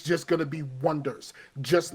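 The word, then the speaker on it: Oneders: That Thing You Do, where they were the Wonders, but it was spelled like the Wonders, and then people kept saying like people kept calling them the Oneaters.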